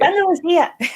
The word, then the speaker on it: Andalusia: No, it's Andalusia. Like the I should be pronounced.